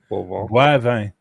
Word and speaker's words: Boivin: Boivin. Bois. So bois. So for Americans, BWA, bois, and then vin.